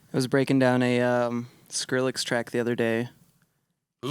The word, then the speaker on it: Skrillex: You would like you'd say it like Squirrel X. Like I couldn't squirrel, say it. Like, yeah. Pick a name that Speech exists. impediment shit. Pick a name that exists. Skrillex.